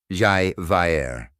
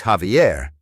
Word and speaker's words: Javier: was from the Midwest had a student named Javier. On the first day, she read the role and called him Xi Vier. He politely corrected her. It's Javier.